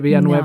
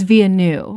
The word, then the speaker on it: Villeneuve: Villeneuve is how they're pronouncing it, but they spell it out Villanueve, so I've always been saying it Villanueve. No, it's Villeneuve.